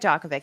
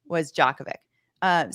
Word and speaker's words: Djokovic: so for anyone that is less familiar with this case for Novak Djokovic, he's a Serbian tennis player who by the way, are we saying this good?